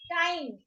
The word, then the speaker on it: time: ई को लगा दीजिए तो अपना वो आई क्या बोलेगा, अपना नाम बोलेगा और ई साइलेंट. सो टाइम. टाइम.